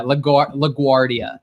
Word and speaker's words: LaGuardia: or- Yeah, LaGuardia is how it's That was pronounced.